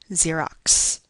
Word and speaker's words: Xerox: Uh, for example, the last X in the word Xerox really represents a sequence of two sounds C and S. So, Xerox. Yet, we always write it as one letter in this word.